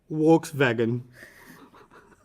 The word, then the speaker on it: Volkswagen: pronounce this car Volkswagen volkswagan no they pronounce the v as a w okay and the W as a v so they say wks vagen I feel like and